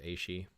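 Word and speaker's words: aos sí: The A-she, yeah, the greater Fae, I think, is the way it's pronounced, is A-she.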